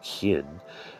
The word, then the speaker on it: khil: circle, while khil, pronounced khin, signifies a center.